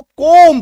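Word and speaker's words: comb: बी के ठीक पहले जब एम हो तो बी चुपचाप हो जाएगा।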